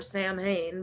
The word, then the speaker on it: Samhain: people who are under the occult um basically samhain is the ancient holiday that halloween is from or samhain by other people's pronunciation and this is like el dia de